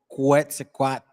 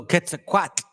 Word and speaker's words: Quetzalcoatl: So it's like a TL. So Quetzalcoatl. Or when you see the E at the end, Quetzalcoatl.